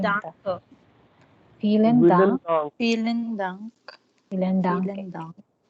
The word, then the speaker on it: Vielen: Vielen Dank or Vielen Dank. Danke. Vielen Dank. Dank. Vielen Dank.